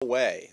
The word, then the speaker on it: Huawei: Huawei. That's how it's pronounced, even though in English it doesn't seem to make sense.